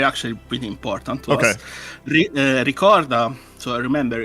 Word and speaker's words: Ricorda: And so how do you pronounce both of these correctly? Ricorda.